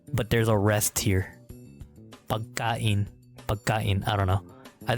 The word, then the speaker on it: pagkain: But it's pronounced pagkain.